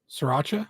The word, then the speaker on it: Sriracha: Kind of slur the SR. Sriracha. Sriracha.